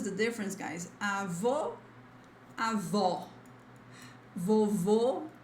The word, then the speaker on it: vovô: Avó, avó, vovô, vovó. This all usually, as I said, is like in stressed syllables.